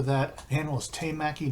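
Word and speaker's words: temaki: The hand roll is te maki, because tekamaki, if I remember correctly, is tuna. Teka is tuna. And so I apologize for that. The hand roll is te maki, not tekamaki.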